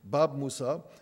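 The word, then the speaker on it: باب موسى: You can see Bab Musa, the yud at the end is pronounced as a Bab Musa, the Gate of Moses, in Arabic and Hebrew characters.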